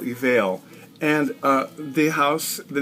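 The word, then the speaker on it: Eviel: it's called faux eval it's spelled e-v-i-e-l evil but like a veil evail and uh the house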